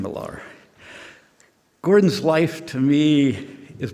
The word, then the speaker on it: Millar: pronounce it right pat there's many ways to pronounce miller milar or all kinds of things but i always called him gordon milar gordon's life to me